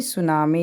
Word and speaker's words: tsunami: ये भी शुरू हमारा होता है T से, TSUNAMI, ये है सुनामी।